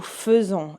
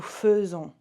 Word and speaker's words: faisons: Again, this, when we have an AI sound and there's another syllable, like here, it makes an E. So plus a second syllable. It changes the sound from E to kind of E.